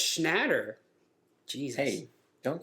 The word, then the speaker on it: Schnatter: Papa John Shatner, which I think it's spelled the same too as William Shatner. Oh, it's Schnatter.